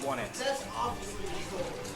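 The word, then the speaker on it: Onett: I'm pretty sure that's like the same tree that's on one it. Like the exact same thing. I don't think that's right. That doesn't seem right. Well, alright. Yeah. And it is pronounced one it.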